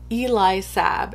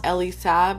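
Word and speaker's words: Elie Saab: by the house of eli sabb and you guys i just recently learned that i've been saying it wrong all this time so yeah it's apparently it's not ellie sab it's eli sab maybe it's not even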